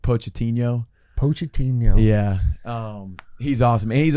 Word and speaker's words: Pochettino: Poached, like I always botch the pronunciation of it, but like Pochettino.